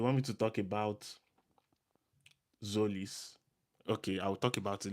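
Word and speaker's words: Tzolis: Um Zolis is actually T Z O L I S but the T is silent, right? So instead of T Zolis, it's so it's just Zolis.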